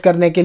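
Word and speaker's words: chronic: सब में यहाँ पे CH से क उच्चारित करेंगे।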